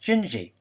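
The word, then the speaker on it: Dindi: although it's spelled D N D it's actually pronounced gingi It's a Wonderful song and I hope you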